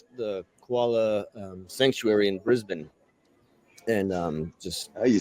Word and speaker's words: Brisbane: to the um the koala um sanctuary in Brisbane and um just oh you said it right